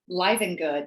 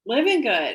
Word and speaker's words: Livengood: So you pronounce it Livengood technically. However, it could be Livengood.